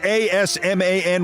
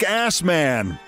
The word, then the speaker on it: Asman: But I mean, if your name was A-S-M-A-N, would you change it? I know he pronounces it Asman, but good grief, it looks like Assman.